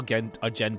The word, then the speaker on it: Argenti: I just realized yeah pronounce like Argentina but like without the like yeah pronounce AR arent as like Argentina kind of that same way could you please keep